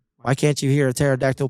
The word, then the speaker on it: pterodactyl: can't you hear a pterodactyl P oh no because the p is silent yeah there you go